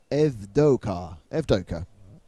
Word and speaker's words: Evdoka: It's Tony Evodoku, I think. Where is the man who told me how to pronounce his surname? Hang on. Oh, I need to find that. It's Tony Evdoka in car 10.